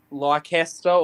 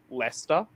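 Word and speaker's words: Leicester: you it's spelt it it should sound looks like it should be said like lycaster or something weird like that it's l-e-i-c-e-s-t-e-r but it's just pronounced lester yeah i messed that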